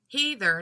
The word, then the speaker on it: heathen: Urban Dictionary but still hether is the deep southern Southeast pronunciation of the word heathen there you go there you